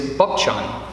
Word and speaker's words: Bupchon: The Korean pronunciation, as they know me in our Korean order, is Bupchon, B-U-P-C-H-O-N-H-O-D-E-N.